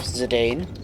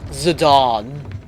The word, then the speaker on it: Zidane: character monkey boy himself Zidane oh sorry Zidane as it's supposed to be pronounced but I refuse yeah a lot of